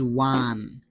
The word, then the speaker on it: one: Okay, so now the next one is one. When I pronounce one, the sound comes wa. So wa is consonant sound, so we have to use A.